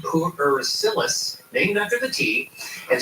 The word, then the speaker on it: pu'er: How do you pronounce this? This is called pu'er tea.